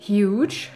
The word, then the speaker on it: huge: atau dalam bahasa Inggris hiu dan dalam bahasa Jerman grows nah penulisan kata hiu dalam bahasa Inggris adalah huge6 tapi kenapa bacanya Jadi hiu-hiu kenapa enggak huge aja gitu langsung kenapa harus jadi hiu dari mana datangi nya